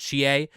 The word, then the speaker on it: Chie: And then similar thing for Erin Fitzgerald, the voice actress for, I think it's pronounced Chie, Satonaka in Persona.